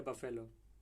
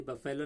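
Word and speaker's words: buffalo: Sheep कहलाती है, गोट या फिर डोंकी या बफेलो? और इसमें जो बफेलो हम पढ़ते आते हैं हमेशा से पहले से, तो ये बफेलो नहीं होता, बफलो होता है इसका प्रोनाउंसिएशन।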